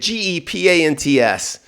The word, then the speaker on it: gepants: Now you have a new class called Gepants. That's how you say it. Gepants.